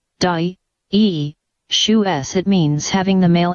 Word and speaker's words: dioecious: Dioecious, adjective, pronounced, di-e-shu-s.